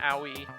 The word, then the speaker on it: Aoi: I have an Aoi. I am pronouncing it right?